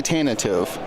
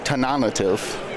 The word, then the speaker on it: Tantive: yeah Road probably um how do you say the name of Leia ship in the opening scene of A New Hope tan ative for Tan I say tantive it could be tantive okay both those things are somehow